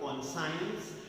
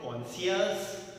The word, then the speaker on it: conscience: Please remember the correct pronunciation. It is not conscience. It is not conscious. It is conscience. Shuns.